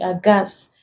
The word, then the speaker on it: aghast: Then also after R and G, we do not pronounce it. Giving examples, rhyme, rhythm, rhinoceros, ghost, ghetto, ghastly, aghast. The is coming after the G and we do not pronounce them.